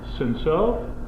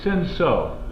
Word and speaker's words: Cinsault: Cinsault. It's pronounced Cinsault.